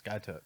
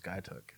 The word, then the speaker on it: Skiatook: from outside of Skiatook it's skytalk yeah so when I first started out there I call this guy took and eventually people like if you're gonna be from here you need to stay say it right so that's awesome so